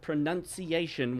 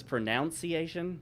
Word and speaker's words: pronunciation: They dispatch with the second O. Everyone says pronunciation.